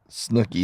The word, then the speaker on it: Snooki: Snooki, it's 2 O's. Snooki is how you say it.